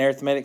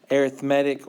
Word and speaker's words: arithmetic: How do you know which pronunciation to use? When you're talking about it, because when you know how to say read and you know how to say read. It's like arithmetic's an adjective and arithmetic's a noun.